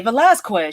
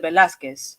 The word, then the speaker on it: Velázquez: She doesn't say Velasquez, she says Velázquez.